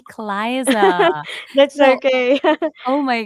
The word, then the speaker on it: Clisa: First of all, I want to apologize because I mispronounced your name from Clisa. It's supposed to be Cliza.